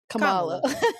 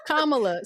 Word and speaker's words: Kamala: at the front yeah just put the accent at the front Kamala no Kamala sometimes I say it